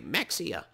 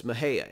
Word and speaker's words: Mexia: as i've said mahaya others will say mexia no it's mahaya and this is the